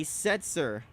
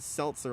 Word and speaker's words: Setzer: and he's sacked Larry Setzer I believe I pronounced it Seltzer last time because I thought he had an l I might end up